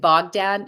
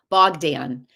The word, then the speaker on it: Bogdan: I loved the storyline with Stephen and Bogdan. I keep saying his name wrong. um, hold on, Bogdan.